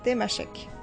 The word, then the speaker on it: Tamasheq: En tamashek, on prononce tamashek, temashek. Et pourtant, il est partout écrit tamashek.